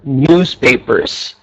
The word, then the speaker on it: newspapers: Your hobbies are okay, but the mistake was that you haven't pronounced the S at the end of the word newspapers.